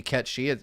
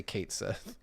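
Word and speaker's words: Cait Sith: we know we know it's supposed to be caty it says so in the original Japanese we we wrote it like this American people aren't going to know how to say it they're gonna say Kate Sith like because to be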